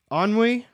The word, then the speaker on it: ennui: On Oh, wait, is that how you say it? Ennui? From the French, basically boredom and related.